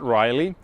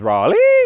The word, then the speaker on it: Raleigh: i think of project rally and that's right i've been mispronouncing this project all this time it is not riley it is raleigh as few of you